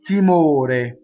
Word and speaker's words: timore: We're going to anticipate the next T, il timore. Notice that ore is closed. It's not harmonized like ore.